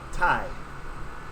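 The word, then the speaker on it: Taii: Ty. Wonderful to meet you all. You spell that.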